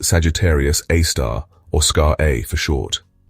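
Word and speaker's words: Sagittarius A*: Its official name is Sagittarius A, pronounced Sagittarius Aar or Scar A for short.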